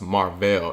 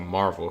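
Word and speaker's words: Mar-Vell: of Captain Marvel but his name is pronounced mark Bell instead of Marvel her name is Captain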